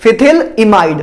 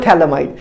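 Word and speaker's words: phthalimide: इसको वैसे पीएच ना साइलेंट होता है वैसे, लेकिन मैं पीएच ही बोलता हूं क्योंकि मजा आता है मुझे बोलने में। वैसे इसको बोलते हैं थैलेमाइड, इसको क्या बोलते हैं, थैल इमाइड।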